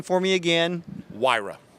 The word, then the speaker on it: Huayra: tour of the Pagani and you've got to pronounce the name for me again wyra wyra fast as a win basically all righty well